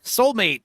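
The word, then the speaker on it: Soulm8te: Soulmate. How do you say this? The 8 makes the T and the E.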